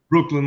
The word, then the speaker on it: Breukelen: with us and it's van bin am I pronouncing it correctly Brooklyn like the bridge in the burrow oh Brooklyn